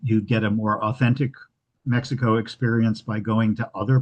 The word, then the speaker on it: Mexico: Um we today refer to uh Mexico with a with a KS sound. um the Spanish pronunciation Mexico um and which is what um is the current pronunciation from from the locals.